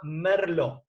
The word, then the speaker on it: merlot: que ténganlo en cuenta la uva se llama merlo si se pronuncia merlo entonces en burdeos el